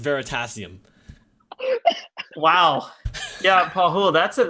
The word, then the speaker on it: Veritasium: just happened wait assirram you can't press it very test serum and it's pronounced veritasium Wow yeah oh that's